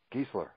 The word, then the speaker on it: Giesler: name is a Geisler it's geese like Geisler okay that's why I